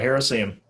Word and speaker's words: Heresium: in a group called Heresium. Am I pronouncing that correctly? Heresium? That's exactly right. Heresium.